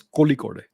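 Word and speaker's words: Kozhikode: various countries by the Indian Institute of Management Kohli code cozy code I don't know how to say it yeah it's Koli code uh here's a different report of that Taliban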